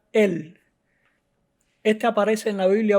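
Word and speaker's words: אל: dios y el nombre común en hebreo se pronuncia él este aparece en la biblia unos doscientos cuarenta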